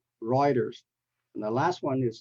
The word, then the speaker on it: Reuters: Nazi and the next word is Reuters not roters ruers and the last one is the most popular city in Canada you pronounce is as Toronto Toronto not Toronto Toronto